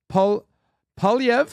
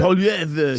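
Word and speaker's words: Poilievre: And now, Polyev, and that's how I'll teach you how to pronounce it. Polyev, say eating the apple.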